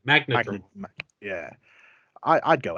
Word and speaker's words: Magnadramon: Magandramon? Is that how you say it in English? Magnadramon. That's it. Magnadramon.